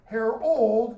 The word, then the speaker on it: Harold: I'm going to now emphasize a different pronunciation of the two, Harold and Harald. This one's Norwegian, this one's English.